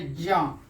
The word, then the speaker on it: ज्ञ: है त्र, और ज्ञ, ऐसे हमारे बिहार में इसको ज्ञ बोला जाता है, लेकिन इसका शुद्ध उच्चारण होना चाहिए ज्ञ, ज हलंत और य यानी ज्ञ।